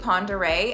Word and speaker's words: Pend Oreille: North Idaho is hard does does this word look like how it should sound no it doesn't other examp Les cutney